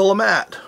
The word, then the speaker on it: LeMat: Well, we're going to start off our discussion of foreign guns with this little number, which is the Lemat, or Lema, depending on how you want to pronounce it.